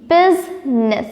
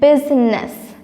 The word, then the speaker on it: business: u s i okay business business okay b u s i and e double s there is a small I we do not naturally pronounce that I but it is there b u s i